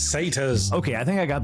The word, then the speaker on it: satyr: Say tires? It's satyrs.